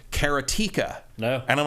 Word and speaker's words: Karateka: so there you go that's the making of karateka I'm glad I'm saying that correctly now it's available for everything 15 bucks karateka was a long I think that's that's the